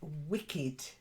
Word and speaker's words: wicked: indeed okay so Paulette first word Wicked not wicked wicked because there is Wicket which is um Cricket term yeah um you know he took the Wicket so wicked Wicked that's better good then the next